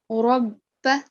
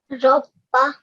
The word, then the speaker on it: رَبَّ: So make sure that you pronounce it as Fatha, not Kasra. Rabba. Rabba.